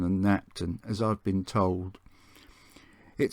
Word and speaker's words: Knapton: the next station of paston and napton or pronounced parson and napton as i've been told it served the two